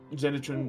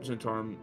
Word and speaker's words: Zentarim: Zenitrim, Centaurum, Zentarim. A lot of different pronunciations, but either way, an I know a 18 is lot.